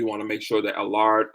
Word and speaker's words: Alara: lookout for more again alar collection a-l-a-r-a collection and yes that last a is silent allah not alara alar alar collection thank you all so